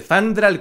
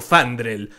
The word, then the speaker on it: Fandral: En ambos casos, pronuncian el nombre de Fandral como Fandrel, pero parece que esto se debe a que el nombre del audio es literalmente Fandrel. Está escrito así.